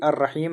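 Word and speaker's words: الرحيم: यहां पर भी अर रहीम है तो लाम साइलेंट रा पर तशदीद।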